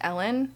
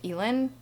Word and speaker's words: Elin: It is pronounced Ellen. I, for the longest time, thought it was Elin, but she verified it's Ellen.